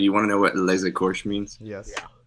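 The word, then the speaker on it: Les Écorchés: but today we're talking about Westworld, episode 7, Les Écorches, I guess. That's how to be pronounced. I know you looked that up. Les Écorches.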